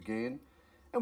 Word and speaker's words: Ghan: of the down thing it's pronounced as G as in the Afghan Express and not g as I've been doing I've corrected this embarrassing